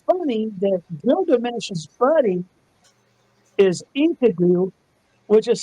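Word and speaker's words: Enkidu: I find it funny that Gilgamesh's buddy is Inkadoo, which is spelled E N K I D U.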